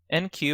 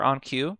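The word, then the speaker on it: enqueue: this figure we have two new terms here NQ or onq and then DQ or dayq depending how you pronounce it so we have the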